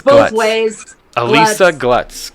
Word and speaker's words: Alisa: It's Alisa, like Melissa, no M.